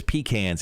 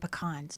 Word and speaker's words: pecan: Is it pecan to you? Yes. I say pecan. I thought pecan. Yeah, pecan. Yeah. I thought it was pecans if you're from the South. Is that how you say it? I've always said pecans. Now, my ex has said pecans, and he'll probably say that you're not saying it right.